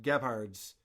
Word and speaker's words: Gebhard's: last week, where him and Carl are at Gebhard's Beer Culture, and they're talking to each other in a noisy bar restaurant.